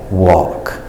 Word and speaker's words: walk: makes the sound all even when the L is silent so that L is there to tell you to pronounce the a with the all sound but don't pronounce the L talk walk other spellings for the